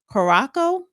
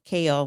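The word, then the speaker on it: Curaçao: JetBlue flight 1112 Airbus A320 in route to New York from the Caribbean nation of Koraco. C U R A C A O Korac Korac Ko whatever was roughly 20 minutes into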